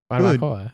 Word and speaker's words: barbacoa: I was trying to get like the Spanish pronunciation. Like you don't say like in Spanish, you don't say the V's that hard. Yeah, it's like it's a much softer beat.